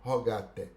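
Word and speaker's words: rogatae: escritas as legios rogate rogate se escreve rogata é com a é no final mas a pronúncia é rogatter então as leis rogatas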